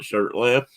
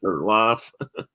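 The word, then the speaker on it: Shurtliff: Some people call it Shirtliff, some call it Shirtlife.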